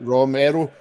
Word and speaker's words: Romero: Romero, or is that I'm pronouncing it right? Romero. Yeah, he's Romero.